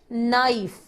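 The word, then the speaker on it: knife: पीठ नाइस नाइस नाइस में के साइलेंट होता है यानि कि आवाज नहीं आती तो हम इसको बोलते हैं नाइस नाइस नाइस नाइस तस्वीर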